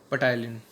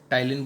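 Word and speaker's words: ptyalin: दूसरा नाम भी है पटाइलिन। टाइलिन बोल दो इसको, ठीक है, पी साइलेंट होता है तो टाइलिन।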